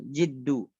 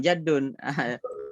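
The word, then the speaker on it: الجد: Bukan kakek, bukan jadun. Bacanya jid. Bukan jad. Ketekunan. Ketekunan ya. Al-jid bukan jad ya bacanya. Al-jid ketekunan ya. Terus dan yang sahih yaitu al-jid dengan kasrah jim.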